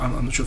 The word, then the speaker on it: Countach: look that's like a Lamborghini Countach our launch of that's the proper pronunciation yeah it looks like